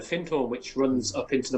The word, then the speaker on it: Findhorn: You're right in the beginnings of, is it Findhorn or Findhorn? How do they pronounce it? So yeah, we live on the River Findhorn, which runs up into